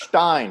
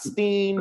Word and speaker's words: Hartenstein: is in a game it's stein not steen not stein stein it wasn't nowitzki right it